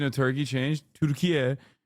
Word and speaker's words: Türkiye: Türkiye is the actual Turkish pronunciation of the country's name.